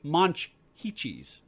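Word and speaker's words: Monchhichis: I was listening to you, and I was paying particular attention to your pronunciation. It's actually Monchhicchis.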